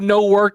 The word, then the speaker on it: Newark: The law enforcement uh law enforcement source said Michael said no work is how it's pronounced by the president.